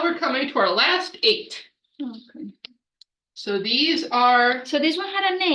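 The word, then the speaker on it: Aett: divided into three groups of eight called the eights very creatively it's spelled AE t t but it's pronounced eight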